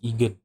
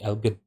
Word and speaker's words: Elgin: It's L. Oh, it's Elgin. Elgin. I've always pronounce his name as Egan. It should be Elgin.